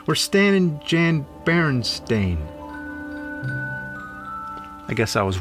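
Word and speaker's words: Berenstain: E not an a actually the most likely pronunciation would be barenstein since it was spelled the same way like Frankenstein but every body I ever met says Baron Steen I can prove the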